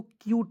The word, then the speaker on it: cute: क्यूट हो जाएगा।